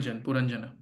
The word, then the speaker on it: Purañjana: called Pur puran RI how do you pronounce that puran puranjana panan okay thank you please try to hear